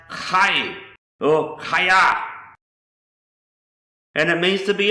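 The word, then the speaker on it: חיה: Another Hebrew word is pronounced Chay or Chaya, and it means to be alive, to live, living, to have life, and to sustain life. So this is word in Hebrew for life is Chaya or Hay.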